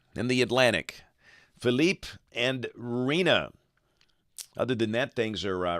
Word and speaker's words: Rina: hurricane season just checking to be sure I've got the pronunciation right it is Rina Felipe and Rina this is the seven